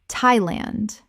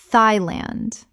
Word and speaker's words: Thailand: Thailand. Common mispronunciation. Thai-land. Correct pronunciation. Thailand. The th makes a simple t sound, not the th sound of the or thought.